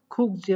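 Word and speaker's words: 국제: তাহলে ইনচন খুকজে বলতে পারেন, এখানে গুকজে উচ্চারণ হবে মাঝে আছে, তাই ইনচন গুকজে খংহাঙ্গোয়া, এই খংহাং মানে বিমানবন্দর আর ইনচন মানে ইনচনে, খুকজে মানে আন্তর্জাতিক।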